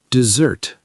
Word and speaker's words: dessert: Ve jed terri five syllables stress on the third dessert. Dessert two syllables stress on the second. Don't confuse with desert.